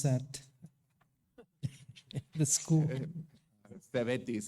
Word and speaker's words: CEVETIS: We're trying to figure out how to pronounce that. The school. CEVETIS, it's known as CEVETIS.